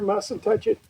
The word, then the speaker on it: Mussentuchit: It's spelled mustn't touch it only. It's like cowboy spelling. M U S E N T U C H I T.